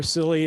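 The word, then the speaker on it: CLLI: a silly name or a code where silly is spelled c-l-l-i uh such as this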